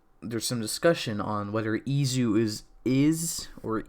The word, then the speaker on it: Is: So the official romanization, according to the Humagear keys, is spelled is, but like the way they're pronouncing it in Japanese is Izu because it's Japanese. They say our words differently, so it's spelled is, but it's pronounced Izu.